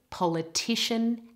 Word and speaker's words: politician: And the next word, now the stress moves to the third part on T.